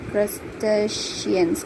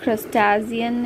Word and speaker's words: crustacean: the ocean of prestige crustaceans crystallines shrimp lobster crabs cooked pots barnacles comes under this category of crystallines it is not crastazian it is station crustacean which is nothing but